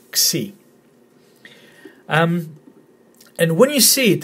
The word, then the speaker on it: Xi: It's the letter Xi, as in taxi, Xi.